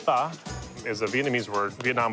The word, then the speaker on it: pho: Pho, or it's actually pronounced pho, is a Vietnamese word.